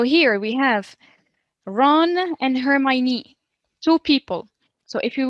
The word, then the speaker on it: Hermione: has many friends ron so ron and her hermione so this is how i pronounce her name so this is ron